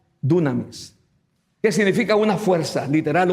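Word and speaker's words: δύναμις: poder del griego y pronunciada con nuestro abecedario es dunamis Qué significa una fuerza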